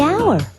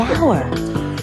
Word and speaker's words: hour: owner the animal the hour wait H is not a vowel sound it's a consonant sound but it's not the first sound the H is silent the hour but what about the